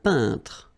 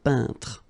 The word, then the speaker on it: peintre: Un peintre. So remember when you get this E-I-N together here, then you pronounce this un sound. So nasal in your nose, un peintre.